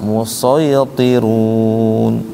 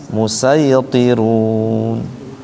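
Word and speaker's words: الْمُصَيْطِرُونَ: humul bisa musaytirun, bisa musaytirun. Sinnya di bawah menunjukkan bisa dibaca dua. Karena kalau di atas dibacanya cuma satu. Ya kan bisa dibaca dua kan sebenarnya kan. Bisa dibaca sin, bisa dibaca sod.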